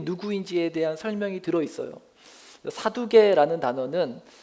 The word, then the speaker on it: 사두개: 사두개라는 단어는 히브리어로 사독이라는 말이고, 이걸 이제 헬라어식으로 그리스 발음으로 했을 때 이제 사두개라는 발음이 되는 것입니다.